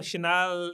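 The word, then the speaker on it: Chanel: अब किसी को शनाल या बरबरी इतनी आसानी वो चैनल ही पड़ेगा ना उसको।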